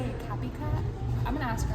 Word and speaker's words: Kaapicat: Kaapicat, spelled K-A-A-P-I-C-A-T, cat. Kaapicat. Hi everyone.